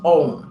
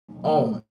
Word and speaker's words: Om: heard a million times probably said it wrong and that's own Now spell o m however many people use